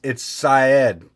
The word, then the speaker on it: Saeed: It's Syed. I pronounced it said, but you know what? We speak American here.